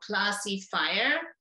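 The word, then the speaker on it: ClassyFire: used one is called classy fire if you say that very quickly it sounds like classifier which is uh then nobody knows exactly how to spell it but uh that's why i'm emphasizing the class if i like chemical class and then fire um and this tool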